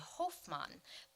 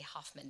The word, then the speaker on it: Hofmann: So a German speaker would say Hofmann, but I hope you'll forgive me if I actually say Hoffmann during this presentation.